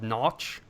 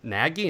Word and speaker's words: Nagy: When I read that name, I was pretty sure that there's some hockey players from Europe that spelled Nagy, and they're pronounced Notch, and then the people here started saying Nagy, and I'm like, wait, it's Notch.